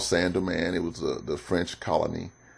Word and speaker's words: Saint-Domingue: Okay, Saint-Domingue is spelled S-A-I-N-T, Saint. It's called D-O-M-I-N-G-U-E, but it's pronounced Saint-Domingue, and it was a French colony, and led by Toussaint Louverture.